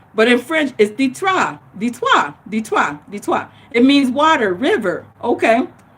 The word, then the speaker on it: Detroit: and what is detroit detroit is a french word it's actually pronounced ditois okay so the trois is detroit okay when and will say detroit but in french is ditra it means water river